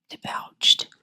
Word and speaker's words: debouched: which the smaller stream debouched. What does that mean, debouched? If I'm even saying that right. So that is actually pronounced debouche.